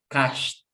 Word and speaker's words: cashed: What is the pronunciation? Cashed. Repeat. Cashed. No cashed. No cashed. Cashed.